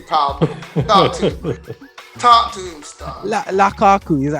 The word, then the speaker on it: Lukaku: Lukaku, is that how you say it? Yeah, Lukaku.